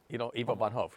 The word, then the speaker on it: Ivo van Hove: How do you pronounce it? Bo Van Hoven. Ivo van Hoogst. Eva von Hove. Ivo van Hove, yeah.